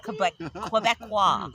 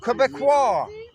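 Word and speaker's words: Québécois: Quebecois. Quebecois.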